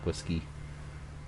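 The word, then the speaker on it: Watsky: s k y more like whisky but he's pronounced as whiskey B find it find it will find it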